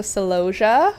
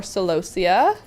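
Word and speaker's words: celosia: And then that spiky one right there, that's a salosia or salosia depending on where you're from and how you say it.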